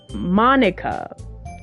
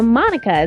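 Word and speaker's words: Monika: Draco nice okay so I think Monica's how you say it and if it sounds like you already know Monica is that right that's right oh okay hi Monica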